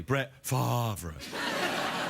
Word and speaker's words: Brett Favre: The rumors that Brett Favre may, I should say it properly, Brett Favre, that he may unretire and play for the